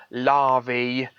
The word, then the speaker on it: larvae: not antennae it's just when you have a plural that's a e like antenny larvae um vertebrae it's pronounced e it's not a it